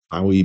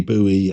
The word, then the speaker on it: Bowie: the World by uh David Bowie, Bowie, Buoie, however you pronounce it. I pronounce it Bowie.